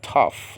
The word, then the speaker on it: tau: Well, this is Tao, In modern Greek, this is called tough. Like, I'm tough, man.